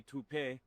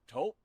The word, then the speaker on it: Taupe: Uh, maybe toupe. Could be toupe. Yeah, I don't know. Or taupe insurance. Maybe. I don't think so. Say it right. That's t o p. That's taupe.